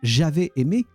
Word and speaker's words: j'avais aimé: It's not j'avais aimé, but j'avais aimé. J'avais aimé. Like if you put a Z on the at the start of the second word.